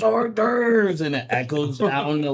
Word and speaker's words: hors d'oeuvres: food and he's like, "Horse duvers." He's like, "It's French for mouse snack." It's not. It's hors d'oeuvres. He's just saying it wrong, but it just stuck with me, and so now I like my buddy.